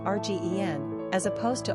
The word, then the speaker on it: Regina: In the United States, Regina is usually pronounced Rgen, as opposed to Rgien, which happens to rhyme with a female body part.